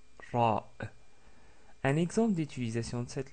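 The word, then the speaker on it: راء: Nous avons vu la lettre Ra qui, comme nous l'avons dit, est comme si un R roulé, comme c'est prononcé en italien ou en espagnol. Donc c'est Ra, Ra.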